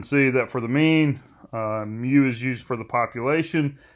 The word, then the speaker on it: mu: you say it like mu so you say it mu mu is the symbol